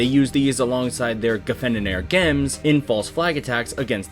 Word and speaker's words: GM: the video, mainly that I've been pronouncing it as Gem Camouf and not Jim Camouf. Well, that's because of accents. The Principality of Zeon actually had a unique accent to them, and as such, they pronounce Jim as Gem.